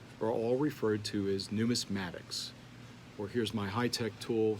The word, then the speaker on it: numismatics: Coin collecting and collecting of medallions, as well as currency, are all referred to as numismatics. Or here's my high-tech tool so you can know how to pronounce it. That's numismatics.